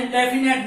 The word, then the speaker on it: indefinite: अनिश्चित जिसके बारे में इंडेफिनेट ना हो उसको हम इंडेफिनेट बोलते हैं। हाँ, स्पेलिंग का थोड़ा ध्यान रखना कि इसको FINI बोलते हैं, लेकिन होता है इसका उच्चारण प्रोनाउंसिएशन ए यूज होता है, इंडेफिनेट।